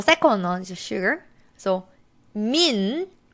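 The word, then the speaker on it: 민: one is sugar so Min is a family name so mean it's his name okay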